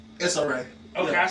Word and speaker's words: Issa Rae: Issa Rae.